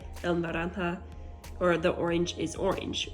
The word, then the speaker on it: naranja: The color orange is a little bit more complicated to say. It's pronounced naranja, naranja.